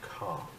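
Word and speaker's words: KÀ: Yeah, we're going to go see the show called Car. It's spelled K-A. Like the Ford.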